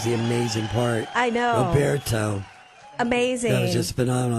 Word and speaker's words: Roberto: Most people want to say Roberto, but he's correcting me and teaching me to pronounce it Roberto.